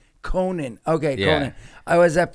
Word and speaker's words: Conant: Your last How do you pronounce My name's Conan. Conan.